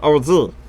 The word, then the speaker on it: Oz: I almost mispronounced that. It's OZ.